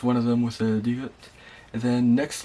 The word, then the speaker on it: 디귿: And then the next letter here is 디귿, which is a kind of like a D sound in English.